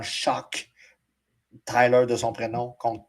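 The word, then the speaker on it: Shough: défaite contre moi Tyler Shock. Oh c'est qu'on prononce hein. Ouais c'est c'est c'est live c'est de même. Merci monsieur Pro de RDS. Il était anciennement chou il est maintenant choc.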